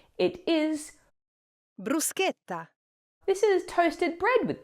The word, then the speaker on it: bruschetta: It is bruseta. This is toasted bread with toppings. Please do not say bruschetta. Bruschetta. Uh uh uh bruseta. Bruseta.